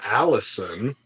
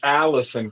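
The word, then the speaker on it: allicin: chemical in it called Allison oh wow how perfect for Alice but Allison but it's spelled differently it's like a l l i c n or something but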